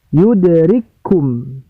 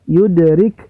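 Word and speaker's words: يدرككم: yang kedua berbaris boombah maka cara membacanya dihilangkan cafe yang sukun kemudian tambahkan tasydid pada huruf yang berbaris Hai you the rich home sama dengan ya cara membacanya yudrikkumul ya jangan sampai kita baca you the rich hukum Hai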